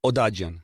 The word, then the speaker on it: Odadjian: the down is here give me the proper pronunciation of your last name Oh dodging Odadjian I think I had it down I it was great